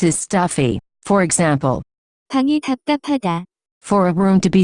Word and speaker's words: 답답하다: The pronunciation of this word is closer to. 답답하다, Notes.